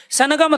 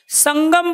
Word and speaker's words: संगम: क्या बोल रहे हो आप इसको सनगम थोड़ ही बोलते हो ना समगम बोलते हो संगम बोलते हो संगम यानी कि ग का उच्चारण कर रहे हो आप भाई जब आप प्यारे